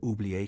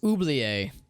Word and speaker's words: Oublier: brought him to Oublier Cathedral, now transformed into a field hospital. I mispronounced it earlier. It's Oublier Cathedral, not Oubli.